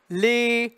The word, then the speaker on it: les: Le, me, te, de is the closed E sound. The S is silent. So, les cieux, okay?